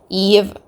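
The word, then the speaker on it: Yves: have now with ch Eve I'm going to call her Eve instead of eyes I'm pretty sure Eve is the correct pronunciation but once again please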